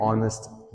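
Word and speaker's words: honest: तो हम यहां पे एच को प्रोनाउंस नहीं करते। हम इसको ओ से प्रोनाउंस करते हैं।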